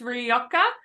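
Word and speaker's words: Rioja: that red wine R is that pronounced rioka it's rioka um you are about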